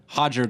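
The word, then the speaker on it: Roger: Enzo Gracie, cousin of Hickson Gracie and Hodger Gracie, and You train with they the all Gracies? have an R in their name and they all pronounce it like an H.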